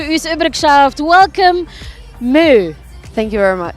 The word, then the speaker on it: MØ: thank you very much did I pronounce it correctly you really did I did yeah I mean you would say Moo yeah that was what you said is that right yeah I got it right actually crazy because no